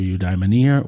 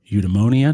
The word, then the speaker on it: eudaimonia: to this as flourishing through eudaimonia or eudamonia depending on how you prefer to pronounce and spell that they may also refer